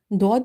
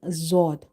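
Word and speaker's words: ضاد: Some people read it like a dal, dod sound, or some are reading zod. Both pronunciations are wrong.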